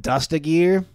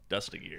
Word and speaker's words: Dustagir: This is the way you'll always remember to pronounce my name. You know, there's like a gear on a car. You dust it. You dust it. You dust a gear.